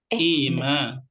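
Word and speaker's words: إيمان: Apa bedanya iman sama Aiman? Kan ada orang nama Aiman ya. Iya. Itu kasroh. Hamzah.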